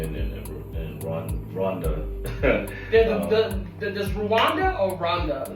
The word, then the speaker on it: Rwanda: Does Rwanda or Rwanda? It's been pronounced differently.